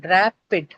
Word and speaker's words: rapid: But uh, first syllable, it is ra, right? That is what is going to carry the stress. So rapid.